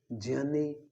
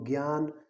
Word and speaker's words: ज्ञान: तो पहले जो संयुक्त अक्षर था उसका प्रयोग करके हमने 4 नए शब्द बनाए, ज्ञान, विज्ञान, ज्ञानी और वैज्ञानिक। आपको इनको ज्ञान, विज्ञान, ज्ञानी और वैज्ञानिक नहीं बोलना है, इनका शुद्ध उच्चारण होता है ज्ञान, विज्ञान, ज्ञानी और वैज्ञानिक।